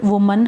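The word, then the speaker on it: woman: जब हम किसी सिंगुलर में इस वर्ड को यूज़ करते हैं एक लेडी के लिए तो हम इसकी प्रोनाउंसिएशन होती है, बोलते हैं वुमन. लेकिन अगर बहुत ज़्यादा लेडीज़ हों, प्लूरल में यूज़ करते हैं तो फिर होती है विमेन.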